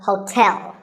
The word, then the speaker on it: hotel: as in tell me the stress is on the second syllable so hotel a related word is